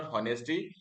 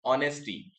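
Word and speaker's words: honesty: This sentence this word ऑनेस्टी इट इज़ नॉट ऑनेस्टी अगर किसी को याद होगा मैंने किसी को करेक्ट भी किया था इट इज़ ऑनेस्टी so here the letter H इज़ is silent.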